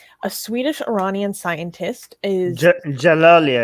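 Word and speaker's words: Djalali: Human rights groups warn that Ahmed Reza Dajalali, a Swedish Iranian scientist, is Jalali. I think the D is silent.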